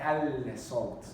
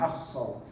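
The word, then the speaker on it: الصوت: We don't say al-sawt. We say as-sawt.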